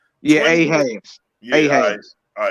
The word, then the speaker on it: Ahaz: Yeah, 20 Ahaz.